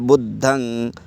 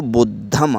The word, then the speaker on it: बुद्धं: जैसा कि उदाहरण में बताया गया है, बुद्धम या बुद्धं, इसको अंग जो है तो इसको जब संस्कृत भाषा में उच्चारण करेंगे तो बुद्धम आता है, और उसी को जब पाली भाषा में उच्चारण करते हैं तो बुद्धं, आदि ना और गा ये निकल के आता है।